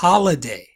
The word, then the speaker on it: holiday: Next is holiday. Holiday. Aseguraos de que pronunciéis la H, ¿no?